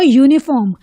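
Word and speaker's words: uniform: रखना होगा अ यूनिफॉर्म यह शुरू तो वावल लेटर से हो रहा है यू इज अ वावल पर हमको कॉन्सोनेंट साउंड पे ध्यान देना है यह कौन से साउंड से शुरू हो रहा है यह कॉन्सोनेंट साउंड से शुरू हो रहा है इसका इसकी प्रोनंसिएशन कैसे जा रही है y डबल ओ यू तो यह वाई क्या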